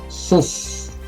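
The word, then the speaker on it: סוס: Kata yang pertama di sini ada huruf samek, kemudian ada vokalnya, ya, surek di sini, sehingga ini bacanya su, diakhiri dengan samek lagi, sehingga bacanya adalah sus, ya, bacanya sus.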